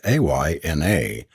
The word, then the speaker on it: Aina: is aina she added pronouncing it a yna with the Highland lilt in her voice and the twins must